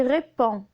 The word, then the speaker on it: répond: Donc la lettre D est muette, on ne doit pas la prononcer. On dit répond.